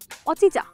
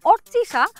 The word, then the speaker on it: অর্চিষা: কি অচিচা, আমার নাম হচ্ছে অর্চিষা আর সে আমাকে অচিচা অচিচা অচিচা এভাবে ডাকে।